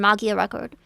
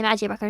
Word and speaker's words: Magia Record: You may notice I switch between saying Magia Record and Mia Record. This is because Mia Record is technically the correct pronunciation, but it sounds more normal to say Mag Record in English in it from the start.